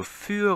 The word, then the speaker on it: für: 그래서 요 für 같은 경우도 für하고 숫자 4를 의미하는 fear하고 발음이 다르죠. 이거는 입이 양옆으로 벌어진 이 소리가 나고 그래서 fear고 요거는 für 그쵸? 입이 앞으로 모아지죠?